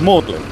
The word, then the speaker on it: Magdalen: assistant Mary Magdalene is known by the old english pronunciation of morgan wasn't Mary Magdalene's Church